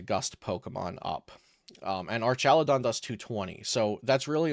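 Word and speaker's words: Archaludon: so we've got a an arc aladon deck or Arch aladon I think I discovered as the pronunciation uh Our chadon Deck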